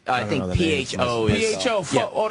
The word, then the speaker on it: pho: Pho? I love your face. What's it called? Pho. Like I think PHO is. PHO. Pho. Oh, they don't pronounce it pho. No, it's like Vietnamese. They say pho.